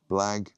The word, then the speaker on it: blag: Now pronunciation, it rhymes with tag. So black tag. Blag.